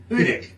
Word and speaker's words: Hudik: It's Hudik.